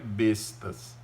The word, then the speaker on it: besta: infantaria vão ser as bestas. Escreve bestas, mas besta é o animal. A pronúncia para essa arma é besta.